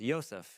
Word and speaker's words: Yosef: So it's Yosef, and the son of Yaakov. And so Yosef. So in the notes, I'm going to try and preserve that Hebrew pronunciation, but you can say whatever you want to say, but I'm going to stick to Yosef.